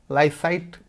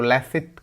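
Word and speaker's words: laïcité: Understanding लैसाइट, लाइसाइट कह सकते हो, उच्चारण फ्रेंच में है तो लैसिट कह सकते हैं।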